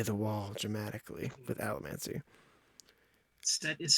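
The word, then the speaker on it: Cett: She eventually gets to Set's chamber as Keep Hastings starts to burn.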